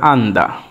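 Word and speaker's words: 앉다: হ্যাঁ, আসলে বসার ব্যাপারটি কোরিয়ান ভাষায় যেরকম হয়ে থাকে যে আমি যেটি লিখলাম ডিসপ্লেতে দেখতে পাচ্ছেন, এটির উচ্চারণ হবে আন্দা।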